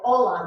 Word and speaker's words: hola: So try it, hola. The H is silent.